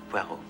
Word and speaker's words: Poirot: Poirot. It is pronounced Poirot.